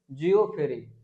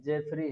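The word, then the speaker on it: Geoffrey: लड़का बोला था इसको जियो फ्री, इसका प्रोनाउंसिएशन जियो फ्री नहीं है, जेफरी है, क्या है, जेफरी चौसर, तो जेफरी चौसर है।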